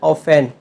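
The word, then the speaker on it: often: Next word ऑफेन। ऑफेन means अक्सर। यहाँ ऑफेन में टी साइलेंट लेटर है।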